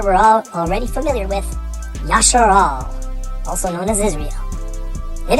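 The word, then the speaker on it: ישראל: The third Hebrew word is one I'm sure we're all already familiar with, Yasharal, also known as Israel. It is spelled Yod, Shin, Resh, Aleph, Lamed.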